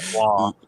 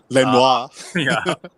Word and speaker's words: Lenoir: defense, which was we'll continue with the Parisian pronunciation of Diomero Lenoir. Lenoir. Lenoir, as he goes by, Lenoir to me.